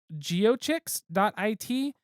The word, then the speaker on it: GIOCHIX: This was through, I pronounce it geochix.it. It is GIOCHIX.it.